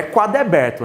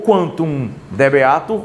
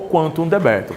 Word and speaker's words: quantum debeatur: Só não é quaddebeto, né, porra? Mas ou quantum debeatur ou quantum debetur, tá?